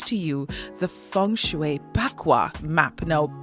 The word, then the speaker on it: Bagua: We are now going to introduce to you the Feng Shui Bagua map. Now, Bagua, with a P, it's pronounced with a P, but it is spelled Bagua.